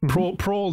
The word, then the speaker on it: Prohl: Yeah, about that, I just visited Prohl. I don't know if that is the correct pronunciation. Yeah, that's right. Prohl Design.